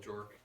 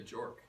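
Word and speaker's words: Björk: Play Boy George um I wonder if you pronounced it in like Icelandic you use the Icelandic pronunciation yeah maybe that maybe I need to do that which is something like beer beer yeah um it does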